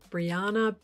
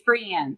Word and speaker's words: Brianne: today I'll be interviewing Banna burnson am I pronouncing your last name correctly Brianna you are it's Brienne it's a BRI yeah Brienne I don't think I've